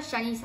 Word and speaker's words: Janice: Se pronuncia Janice, claro, ahí me puso.